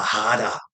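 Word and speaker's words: 腹: The R, it's Hara, but the R is pronounced like a D.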